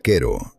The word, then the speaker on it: Cairo: Número ocho, Cairro, Illinois. Cairo se pronuncia quero, no como la capital egipcia.